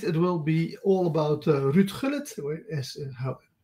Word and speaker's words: Ruud Gullit: Uh, Tonight it will be all about Ruud Gullit, as we Dutch pronounce his name, or Ruud Gullit if you're English speaking.